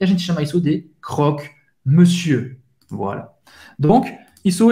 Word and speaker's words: croque-monsieur: Pode ser também un croque-monsieur, isso é verdade. Misto quente em francês. Un croque-monsieur. Un croque-monsieur.